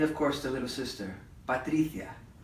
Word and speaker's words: Patricia: I basically got stuck hanging out with Alberto, David, and of course the little sister, Patricia, which rhymes with Galicia.